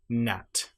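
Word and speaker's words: gnat: So if you have the letters G and N together, you normally will not pronounce the G. And one example might be Nat or a line.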